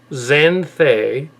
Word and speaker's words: Xanthe: uh happened to mention the let's see panel xanthe oh yeah yeah that's pronounced right so for some reason xanthe hui